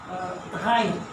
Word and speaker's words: drei: Dry. It's an air. Our air we cannot roll it. The English roll the right. Yeah, okay.